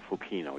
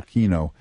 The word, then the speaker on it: Fukino: Is that how you pronounce the name? Fukino, yeah. Fukino.